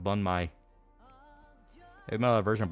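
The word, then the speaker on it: bánh mì: Banh mi is pronounced bun mai.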